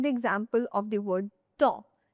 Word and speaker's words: temps: Let's take the example of the word temps. t e m p s temps In this word, there you can only listen to temps. P and S are silent.